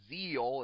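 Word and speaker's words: Zexal: 5DS was good and I can say that zil or rather it's pronounced Zeal if you can believe it but I say is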